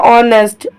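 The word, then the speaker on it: honest: ई एस टी ऑनेस्ट यहां पे आपका जो एच है वो लिखा जाएगा पर पढ़ा नहीं जाएगा क्योंकि जो एच वर्ड है वो आपका साइलेंट है यहां पे ऑनेस्ट ऑनेस्ट का मतलब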